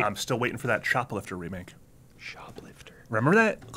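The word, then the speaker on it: Choplifter: shop, like helicopter. Chop, like CH. Shoplifter.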